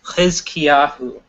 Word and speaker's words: Hizkiyahu: How is it pronounced again? The proper pronunciation? Hizkiyahu. Hizkiyahu. Yes. Hizkiyahu.